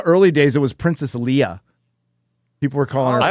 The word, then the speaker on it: Leia: Even in the early days, it was Princess Leia. People were calling I her always Princess knew it was Leia. Leia.